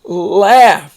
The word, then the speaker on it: laugh: won a beautiful trophy now we're going to do the GH that has the F sound and the first one